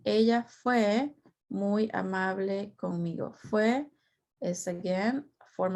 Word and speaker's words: conmigo: Do not say con me. You might think that's how you say it, but it's actually conmigo. That's how we say it, with me.